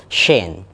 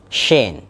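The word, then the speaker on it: Shein: Contohnya ada kata-kata S-H-E-I-N. Nah, di situ ada SH. Maka teman-teman ya tinggal di lebih tebal suara S-nya. Jadinya Shane. Shane.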